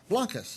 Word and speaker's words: Blancas: I hope I don't say your last name wrong uh Blancas yes Blancas yes that's easy enough now